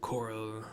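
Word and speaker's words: coeurl: Coral. Quirrell? How do you pronounce that? C-O-E-U-R-L, I think it was? I already said coral, even though it sounds like C-O-R-A-L, coral.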